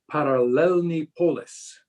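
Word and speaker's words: Paralelní polis: and in others power let's see if i can say right parallelney polis was the way they often pronounced it and um it's just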